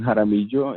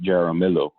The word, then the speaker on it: Jaramillo: for your introduction again my name is uh jaramillo in spanish in english with and uh in english my last name they pronounce it jeramillo um as betty said